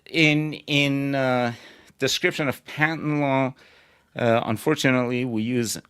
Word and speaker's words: patent: So, so, uh, some older people pronounce them patents, uh, to rhyme with latent. Uh, we don't do that anymore. We all say patent and latent.